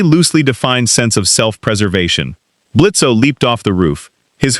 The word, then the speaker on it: Blitzo: I'm Blitzo. The O is silent, and I run the premier assassination agency in this hole.